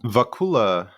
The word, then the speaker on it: Vacula: This episode, we welcome Justin, and is it Vacula? Am I pronouncing that right, Justin? Vacula.